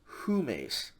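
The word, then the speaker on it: ὑμεῖς: You still have the rough breathing mark, and so these are all going to be pronounced with the H sound. Here, the nominative plural, first person was hemes. Here in the second person, it's humes.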